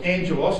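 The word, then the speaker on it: ἄγγελος: elect Nation now that word angels of course who know is agelos or Angelos is pronounced in the Greek he shall send his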